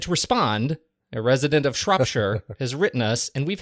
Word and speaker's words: Shropshire: Rings in its pronunciation here we say Shropshire Shropshire as in Shure as in shirt without the tea I hope that helps